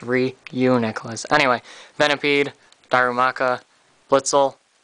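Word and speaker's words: Reuniclus: three one two yeah it's really uniqlous not renon nicholas or something there's a u there it's re you necklace anyway venipede darumaka blitzel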